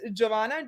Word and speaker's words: Jovana: like even in serbian so maybe i'll just spell it it's giovanna j-o-v-a-n-a in serbian version so it's very